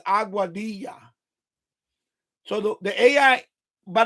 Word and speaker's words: Aguadilla: a aua auadilla right so even if you pronounce it wrong you should say say auadilla not auada but the proper way is saying it is auadia.